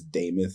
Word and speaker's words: Damuth: Most people don't even know how to pronounce my last name, but it's Damuth Incorporated was the company, and Damuth is the last name.